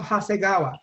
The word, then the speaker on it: Hasegawa: I can't pronounce his name right. I think it's Hayagawa or something like that. Bob Hasegawa.